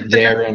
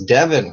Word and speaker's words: Devin: yeah, I think I said Darren, but I'm Devin. Sorry. I'm so used to people mispronouncing my name, and everyone. There's so many spellings of it. There's E-N, I-N, O-N, A-N. So everyone's like, "Are you Devon, Devin, Devin?" I'm like, "No, it's Devin.